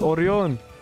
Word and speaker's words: Orion: Orion. Did I pronounce that correctly? Orion. Orion. Come on. We're in the valley. It's Orion.